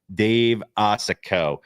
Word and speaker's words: Osokow: So without further ado, let's bring in Dave Osokow. Dave, did I get the pronunciation right, first of all?